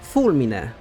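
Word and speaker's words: fulmine: word that simply means lightning should have been fulmin then he showed us his memory of the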